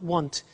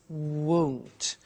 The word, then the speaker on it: won't: It's not want, it's won't.